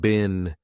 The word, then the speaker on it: been: Now notice I said been, a very unstressed been.